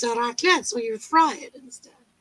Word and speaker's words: raclette: Yeah, it's like the fondue is the same concept, but it's a raclette, so you fry it instead.